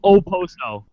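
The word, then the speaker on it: Okposo: the other day but they were calling him AO and I was like that's not a freaking Z even I know that like even I know it's not a z okay ooso yep obviously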